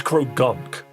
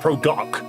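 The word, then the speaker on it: Croagunk: Cuz it is crow gunk. Like you do pronounce the N. It's not pro gunk. It's gunk.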